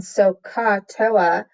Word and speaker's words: SOHCAHTOA: And it's pronounced SOHCAHTOA.